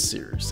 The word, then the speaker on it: Cyrus: high-performing My name is Cyrus. It’s spelled like “Cyrus,” pronounced like “See Rooster,” just take out the “ter” Thank you very much for watching and have a wonderful day!